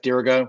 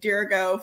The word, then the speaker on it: Dirigo: half old uh d i have to ask dirigo why dirigo dirigo so it's spelled d-i-r-i-g-o and it is latin for i